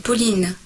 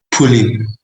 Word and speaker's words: Pauline: Donc, un, ce n'est pas Pauline, c'est Pauline. Pauline.